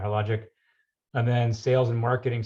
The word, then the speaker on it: Hologic: You were a lab assistant, and then you went into research assistant, hologistic. How do you pronounce that? Hologic, yeah. Hologic. Mm-hmm. Yeah, no S in there. Hologic.